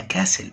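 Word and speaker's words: castle: the past من الماضي تبقى كاسل قلعة والتي صامتة لا تنطق a dolphin الدارفيل is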